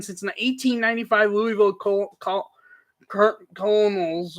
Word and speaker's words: Colonels: the 1895 Louisville coal Colonels or kernels I think it's pronounced 192 in percentage in